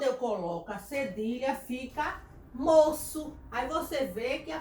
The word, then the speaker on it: moço: A, O e U, indica que a letra será pronunciada com o som de S. Então, se eu não botar, fica aqui, ó. Vamos pronunciar? Fica o quê? Moco.